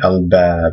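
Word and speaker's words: الباب: moon letter, let's say al-bab, because we're familiar with that word. Al-bab means the door. But remember, you do pronounce the al because this is a moon letter.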